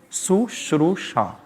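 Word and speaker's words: शुश्रूषा: Spell the word, pronounce it, Sushrusha. So Sushrusha is what?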